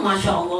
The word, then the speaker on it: Masya Allah: dunia ngeri kalo statusnya Masya Allah tabarakallah bacanya per Masha Allah Ngeri bukan takjub yang